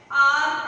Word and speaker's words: hour: Some words begin with a silent H.